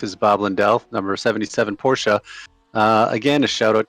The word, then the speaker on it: Porsche: peasants such as me it is not a Porsche it is a Porsche uh a date and this Porsche uh is coming up two turn 12.